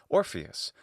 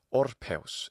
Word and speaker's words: Orpheus: Orpheus in classical Latin pronunciation, Orpheus, of course, in the ecclesiastical pronunciation. It's frequent for these names, too, to get a stress on the final syllable, like Orpheus or something like that, imitative of the Greek accent, which in this case is Orpheus for the classical Attic pronunciation and Orpheus in the modern Greek pronunciation of that name.